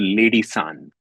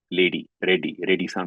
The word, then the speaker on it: Reddie: Now, my father realized I was talking about him because they could never pronounce my father's name correctly. They say la instead of ra. So he was called Lady San. Reddie San became Lady San.